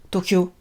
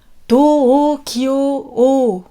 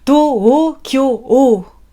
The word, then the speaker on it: Tokyo: Donc Tokyo, attention dans la prononciation, on ne dit pas Tokyo. On dit Tokyo. Ouais, c'est ça. Tokyo. 4 syllabes. On allonge les O.